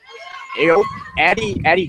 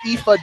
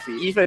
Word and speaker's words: Aoife: And that is going to bring Addie Duffy. I think it's Aoife Duffy. Aoife Duffy, if I remember my pronunciation guide correctly.